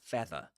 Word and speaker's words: feather: Another feather without pronouncing the final R.